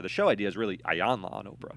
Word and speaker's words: Iyanla: Is that this show that Oprah runs, that counselor, Ayanna, how do you say her name? Iyanla.